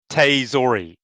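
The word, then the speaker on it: tsutaezori: all the way, the Tustazori the underarm Takayasu. Yes, the underarm forward body drop. I wish he'd stop doing it because I can't pronounce that word. It's Tsu, which is TSU, Tsu, Teizori.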